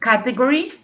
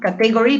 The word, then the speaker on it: category: Have you noticed the pronunciation of category? That is not category, but category.